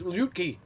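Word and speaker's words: Luetge: work so we'll see lucas leaky up in the yankee pants that's not how you pronounce it it's lukey they butchered his name one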